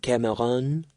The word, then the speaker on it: Cameron: "You're a bad boy, Cameron." The accent was on the last syllable.